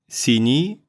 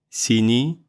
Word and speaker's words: синий: say is that you don't have to put a lot of effort on pronouncing и краткое if it follows и or ы, since it's almost the same sound. Красный, красный, синий, синий. This combination sounds like a stretched и.